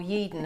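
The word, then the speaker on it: Yeadon: many times when I go to Yorkshire particularly yeda or yeden as you pronounce it people say you're Australian I'm fromy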